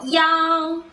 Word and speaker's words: 幺: 1, 一, 一, or 幺, sometimes the word for 1 is usually pronounced 幺 instead of 一.